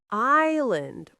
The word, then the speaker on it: island: And island. We don't say island, we say island. Island.